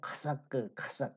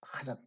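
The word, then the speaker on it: חָשַׁק: 자, 여기 보면 여기서 이제 그 하나님을 사랑하고라고 하는 아, 단어가 있는데 이게 카삭 이게 좀 발음이 그 후음입니다. 후음. 속에서 나오는 후음이라 카삭 그렇게 되는데 이 하나님을 사랑하라고 번역되어 있는 단어가 이 하사크는 찰싹 달라붙는 겁니다.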